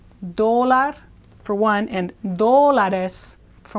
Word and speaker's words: dólar: And then the English word for dollar, or the Spanish word for dollar, is like the English word dollar, stressed on the first syllable. Dólar for one, and dólares for more than one.